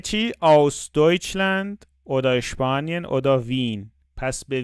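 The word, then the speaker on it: Wien: آوس دویچلند اوداشپانین اودا وین پس به وین وین اتریش پایتخت اتریش تو آلمانی ما میگیم وین وین نمیگیم میگه از آلمان اسپانیا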